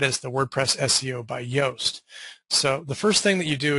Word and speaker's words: Yoast: And we're going to see that it's the very first, WordPress SEO by Yoast by Joost de Valk. Probably say Yoast, I think is actually how it's said, which is why it says Yoast there.